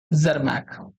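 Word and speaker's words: Tschermak: number three जरक ठीक है जरमक जरमक जरमैक pronunciation होता है इसका ठीक है तो ये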